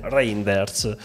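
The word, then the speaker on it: Reijnders: a dire Rei business che ho imparato a pronunciarlo dicevo ragender's tonani semplicemente reinders e quindi ora lo so pronunciare cosa dire altro Dove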